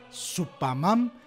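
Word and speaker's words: スーパーマン: digo solo porque sí supaman la pronunciación japonesa de Superman es una pista importante se ha Comparado el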